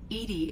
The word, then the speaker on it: EDI: the medical Bay why are you named Edie Edie is the phonetic pronunciation of Edie I that is an acronym for enhanced defense intelligence are you getting along with Joker mr.